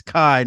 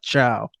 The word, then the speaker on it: Caio: It's Kai, not Chow.